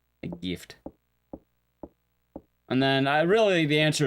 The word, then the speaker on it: GIF: Alright, I know there's been debates on it, but I'm pretty sure it's pronounced, what, GIF, right? Like the hard G.